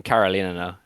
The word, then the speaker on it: Karolinerna: Yeah, I mean, Karolinerna is how you say Yeah, it.